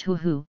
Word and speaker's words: ho-ho: The ho-ho, pronounced hoo-hoo, hopped off Nick and onto